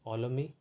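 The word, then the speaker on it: Ptolemy: this word it is olami okay king olami and pt is silent okay so we in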